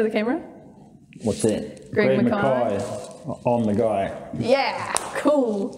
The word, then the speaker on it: Mackay: So you pronounce it Mackay, not Mackay?